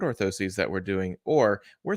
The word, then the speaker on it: orthoses: orthosis in general scoliosis orthosis is a noun and it's singular Ortho sees is plural just like prostheses would be plural so the correct way to say the things that go into your shoe foot inserts would be hey look at these new foot orthoses that we're doing or